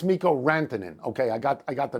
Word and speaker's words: Mikko Rantanen: First of all, I said it's Mikko Rantanen. Okay, I got the name wrong.